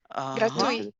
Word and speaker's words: gratuit: Réponse euh Ren gratu gratuit. Oh, c'est gratuit. Gratuit. C'est c'est l'été final. Or, la consoonne finale généralement ne prononce pas en français.